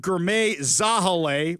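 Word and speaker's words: Girmay Zahilay: Well, King County Executive Ger Zahale, which by the way, apparently that's the correct correct pronunciation for that one, along with other officials,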